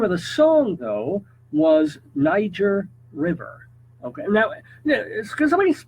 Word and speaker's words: Niger: Okay, now, can somebody please tell me when we started calling it Niger? When the hell did that happen? All the years I was growing, it was Niger, not with a hard G and a long I, Niger, and you had to pronounce it correctly, because if you pronounced it the other way, you could get killed.